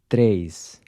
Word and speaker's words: três: Três. This E is a closed E.